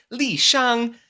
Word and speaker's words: Shang: So I'll be pronouncing it Li Shang, just like the real-life Chinese general that lived in 200 BC.